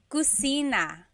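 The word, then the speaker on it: kusina: So in Tagalog there is no letter C. Okay. So, in Spanish, if it's spelled with a C, usually in Tagalog, it's spelled with a K because there's no letter C naturally found in the Tagalog alphabet. So, the cosina is the kitchen.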